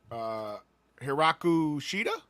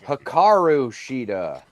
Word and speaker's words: Hikaru Shida: So, AEW Dynamite kicked off with Mercedes Moné versus Hiraku Shida. Is that how you say her name? Sure. All right. Okay. Hikaru Shida.